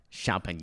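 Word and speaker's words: Champagnat: it's a small school i'll spell it for you it's c-h-a-m-p-a-g-n-a-t champagne yeah but they are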